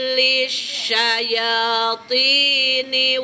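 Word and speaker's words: للشياطين: Dan dalam pengucapan sya, jangan sya, jangan monyong. Sya itu tidak monyong, tidak boleh monyong. Lisyaya, jangan lish, jangan, tapi lisyayatini.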